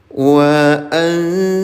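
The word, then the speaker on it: وأنت: Wa anta minal kafirin. Nun sukun bertemu dengan huruf ta. Namanya ikhfa a. Samarkan bunyi nun sukunnya tahan selama dua harakat.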